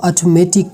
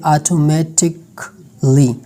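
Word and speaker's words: automatically: पर यह लफ्ज है आप शायद इसको ऑटोमेटिक बोलेंगे लेकिन इसका जो करेक्ट प्रोनंसिएशन है वह है ऑटोमेटिक ली ऑटोमेटिक इसके बाद लॉजिकली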